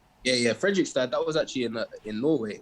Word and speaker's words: Fredrikstad: Because you started off at, again, pronunciation, but Fredrikstad, or like that team in the second division, right? Yeah, Fredrikstad.